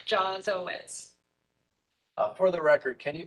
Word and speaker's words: Jawitz: And just so everyone knows, your name's pronounced Jawitz, like Jaws, correct? Correct, like the shark, Jawitz.